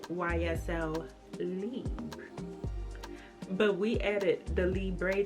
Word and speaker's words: Libre: Actually, the correct pronouncing of this is YSL Libra. It ain't Libre. We made that name up. It ain't Libre, but it's actually pronounced YSL Libra.